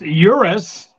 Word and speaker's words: Urus: not fake news here the Euros pronounced Urus is just an Audi